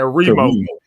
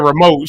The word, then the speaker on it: remote: Well, we always pronounce the remote. We say like remote. R-E. Yeah, it's R-E. Yeah. I always said remote. She said I would have put the emphasis on moat. She put the emphasis on re.